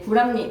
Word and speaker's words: 불합리: 불합니 그 받침 뒤에 리을이 오면 어떻게 한다고? 두 단계 거쳐야 돼. 알았지? 리을이 니은으로 먼저 바뀌고이 니은이 비읍을 뭘로 바꾼다? 니음으로 바꿔서 발음하면 불합니하고 발음하시면 됩니다.